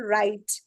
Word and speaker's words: write: For example, write, wrote, right? So what is silent here? W is silent.